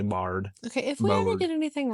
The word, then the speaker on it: Brohard: like broad or although they say something silent and it's the R is silent. It's actually bard.